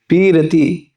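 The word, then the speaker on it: পিরীতি: हम बुझब से जुगल पीरती। बंगाली भाषा में है ना, तो इसको थोड़ा उच्चारण लगे, वैसे प्रीति कहना चाहते हैं, लेकिन बंगाली भाषा में इसको बोलते हैं पीरीति।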